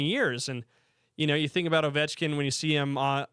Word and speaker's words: Ovechkin: I was like, "Yeah," and she's like, "I thought it was Over Chicken." I was like, oh, okay, no, it's not Over Chicken, it's Ovechkin.